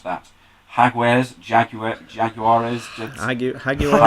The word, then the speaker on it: Jaguares: hat I can't pretend to know how to pronounce that hog where's Jaguar jaguares thank you regular letters hog where's the nose